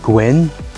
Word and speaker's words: gwyn: masculine the masculine is gwyn and the feminine is gwen notice the feminine one is a bit lighter in the vowel sound and the masculine is a bit darker gwyn and gwen this